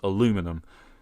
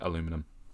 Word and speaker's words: aluminum: i believe it's uh transparent aluminium or as it would have been pronounced in the in the show transparent aluminum yes i say it both ways i'm british i say aluminium but i like star trek so i'll say aluminum i'm weird i get